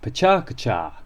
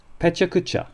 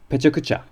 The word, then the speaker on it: pecha kucha: pronounced are you ready pucha or pucha all of the syllables and there are four of them have roughly equal length like many Japanese words